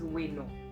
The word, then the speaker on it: bwino: What is wino? Wino, it's BWINO. Okay, so in my Shona, if I pronounce BW, it's we.